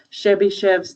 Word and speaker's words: Chebyshev: think it's pretty um it looks long but it's pronounced just like it's spelled so chevy chev's theorem now chebychev's theorem